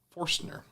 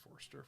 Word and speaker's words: Forstner: Forstner. I gotta say it right. Forstner. Not Forster. Forstner.